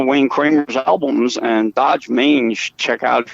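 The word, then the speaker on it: Dodge Main: Okay, it's spelled like the car Dodge, but the other word is MAIN, but it's slang. It's like Dodge, Maine.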